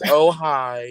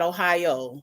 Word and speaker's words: Ojai: How do you Yes, it is Ojai. pronounce it? Okay. The J sounds like an H. Okay. I got you. I'll get it. Ohio. Okay. Not Ohio, but okay, whatever.